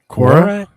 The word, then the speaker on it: Quora: Quora. Quora?